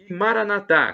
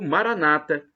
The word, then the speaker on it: Maranata: proverá Creia acredite se Maranata como dizemos nosso católicos ou Maranata com a tônica na penúltima sílaba como dizem os nossos irmãos separados os protestantes ou evangélicos não importa somos todos